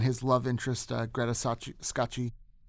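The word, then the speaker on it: Scacchi: love interest uh Greta scotchi there's some debate as to how to pronounce her name we're just going to go with scotchi we're going to go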